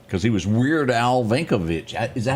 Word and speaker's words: Yankovic: Because he was Weird Al Yankovic. Is that how you say it? Yankovic.